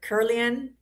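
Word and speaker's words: Kirlian: Have you seen the Curlian photography of food? So I think I'm saying it right. Curlian or Curlian?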